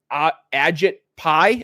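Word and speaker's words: Ajit Pai: Agit pie, I think is how you said his name. Yes.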